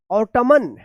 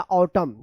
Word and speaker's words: autumn: तो क्या पढ़ेंगे इसका ऑटमन या ऑटमन या ऑटम, क्या है इसका सही उच्चारण होगा ऑटम, क्या होगा ऑटम। तो यहां पे देखिए आप, यहां पे एन साइलेंट है, क्यों इसका रूल है